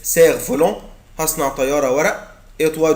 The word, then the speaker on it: cerf-volant: ما بقولش يا ولاد سيرف، مش بنطق حرف الاف. cerf-volant هصنع طيارة ورق.